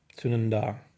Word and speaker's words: Sunandā: Sunandā. Yeah, it's a long A for sure.